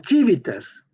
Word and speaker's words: civitas: Tenemos que distinguir entre la URBS, la Civitas, C-I-V-I-T-A-S. Nada más que en latín, la CI se pronuncia chi.